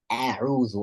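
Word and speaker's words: أعوذ: A'uzu and not a'uzu, right? A'uzu, no, a'uzu.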